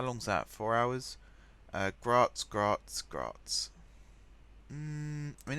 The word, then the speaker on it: Graz: pronounce that right and someone did say in the comments that yes it's pronounced it's pronounced Graz so I'm kind of